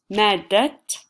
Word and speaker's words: مادة: Remember, if you're going to continue, you have to pronounce it as a t sound. مادة العلوم, science.